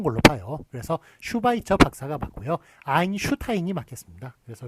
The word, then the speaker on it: 슈바이처: 많이 헷갈렸거든요 그거보다 앞에 온 걸로 봐요 그래서 슈바이처 박사가 맞고요 아인슈타인이 막혔습니다 그래서 이렇게 앞에 오면 슈로 적는 거요 발음 s를 길게 한 발음입니다 그 다음에 아